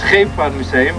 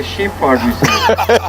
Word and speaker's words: Scheepvaartmuseum: Yeah, it's very funny to me because it's Scheepvaartmuseum, but you say Sheepvaartmuseum.